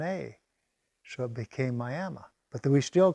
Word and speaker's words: Miami: still Miami Arizona what why is it pronounced Miami well the guy that uh settled a town he wanted to call it Miama but when they spelled it they put an e on it instead of an A so it became